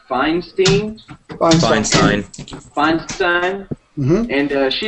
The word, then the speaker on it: Feinstein: Sinister uh Senator Diane F how do you pronounce it Feinstein Feinstein Feinstein okay uh of California on Thursday